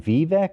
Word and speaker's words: Vivek: clap I knew this about uh is it vivec how do you say his first name Vivek ramaswamy Vivek okay uh ramaswamy I knew it